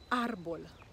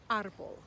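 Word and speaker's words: árbol: vocabulary a as in arbol arbol arbol means tree the accent is on the a and so we emphasize that syllable and we say arbol what about the word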